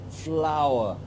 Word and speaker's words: flour: flour you know it what it doesn't sound right with one syllable so we say flour word herb the schwa is coming into place at the end of the word to make the second syllable flour flour and this worked here